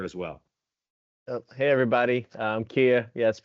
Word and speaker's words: Kia: well hey everybody I'm Kia yes it's pronounced just like the car very easy to remember um I'm currently the